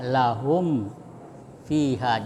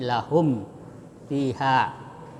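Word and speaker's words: لَهُمْ فِيهَا: Membacanya mim disuarakan dengan terang dan jelas di bibir serta mulut tertutup. Jadi bacanya lahum fiha. Jangan lahum tapi lahum fiha.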